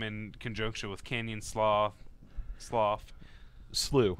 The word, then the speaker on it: Canyon Slough: Slew. It's actually pronounced Slew. Slew. Yeah, I didn't know that either until somebody told me.